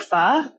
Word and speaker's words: pho: So I started searching and I was like, do you like pho? Some people may pronounce it pho, P-H-O, basically Vietnamese soup.